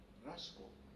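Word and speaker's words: Raschkow: Raskow se escribe, ¿no? R-A-S-C-H-O-W, ¿no? Raskow.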